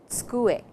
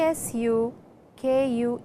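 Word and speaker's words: tsukue: A table is called a sku. It is t s u k u e su a and not suku.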